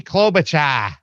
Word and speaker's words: Klobuchar: You got to say her name right. It's Amy Klobuchar.